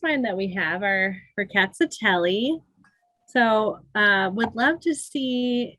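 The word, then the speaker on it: Rkatsiteli: But now you all, for Ricatatelli, you pronounce every letter. You can remember our cats are smelly. Our cats are smelly, Ricatatelli. And that's a good way to remember it.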